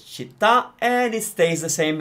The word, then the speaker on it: città: It's got an accent on the A, which means you stress it. So it's città, and it stays the same in the plural.